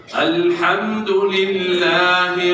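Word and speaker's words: الحمد لله: Ha, ya, ha, jangan ganti jadi ha. Karena biasa mungkin yang baca dari huruf Latin itu salah itu. Gak ada ha, jadi ha. Alhamdulillah, ha, ha, ha. Coba ha, ha. Ha, biasa jangan ha, ya.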